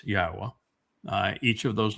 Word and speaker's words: Yahweh: And it's not Yahweh, it's Yahwa.